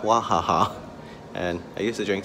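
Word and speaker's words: Wahaha: TNT or Yohan and it's pronounced wah ha ha and I used to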